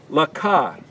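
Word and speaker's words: לך: This would be pronounced Laka. That's Lamed Kaf, Laka.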